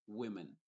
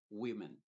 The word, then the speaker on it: women: se va a decir women women esta o se pronuncia como una e women lo la siguiente